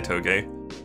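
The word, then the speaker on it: Toge: game productions or toes T OTE I'll say toe gay of the Smiths pronounced like everything in this video and as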